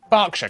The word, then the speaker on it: Berkshire: ER is pronounced R. Berkshire, Clerkenwell, Hertfordshire.